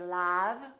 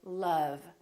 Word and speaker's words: love: also spelled with the letter o as in words like love we don't say lab we say love or son my son